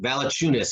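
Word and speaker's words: Valančiūnas: how do you say his name - yeah Valanciunas now the tunas there we go Valanciunas I just know that he you know these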